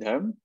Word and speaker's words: Dharm: Dharam, how do you pronounce this? Dharam? I pronounce it Dharm.